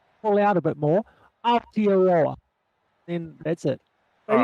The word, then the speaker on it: Aotearoa: Like, here's how you pronounce it. You go, ow, like, how you go, ow, here, lower. It's like, Altiora. yeah, just let them kind of pull out a bit more. Aotearoa.